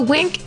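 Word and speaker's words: Winc: So Wink is spelled W-I-N-C, and it works directly with winemakers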